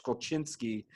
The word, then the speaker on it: Golzinski: And my dad is going to watch this, and he's going to say, it's not that, it's Golchinski.